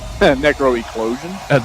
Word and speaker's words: NecroEclosion: Is that, am I pronouncing that? NecroEclosion. There we go. Yeah. I was looking at it. I was reading it properly. Mouth's not working today. Tongue and mouth are not, meshing. So, NecroEclosion.